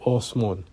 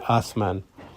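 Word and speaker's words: آسمان: heaven the mean houseman they will pronounce it differently they say oh small and whereas in pakistan they would say asman and you keep moving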